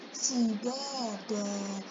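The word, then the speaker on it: سِدَادًا: Wa banaina fawqakum sab'an sidada. Di sini ada dua tanwin, namun tanwin yang sab'an di sini dia tetap dibaca tanwin. Sedangkan yang tanwin yang di akhir ayat ini dia dibacanya panjang. Kenapa?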